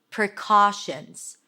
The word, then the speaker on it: precautions: That's a P and an R and awah. PR pra. Round your lips for the R. C. A C sound. Then the A's and father. Precaution or shins in plural. It's a shh sound an N and a Z. Precautions. Precautions.